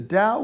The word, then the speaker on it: Tao: taoism other things emphasize the tao in the old ways spelled with a t it the tao the dao is a type of historical